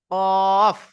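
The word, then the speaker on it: ق: বারাবার উপরের তালু, বলছে জিভের গড়া এবং তার বারাবার উপরের তালুর সাথে লাগিয়ে উচ্চারিত হয় কফ।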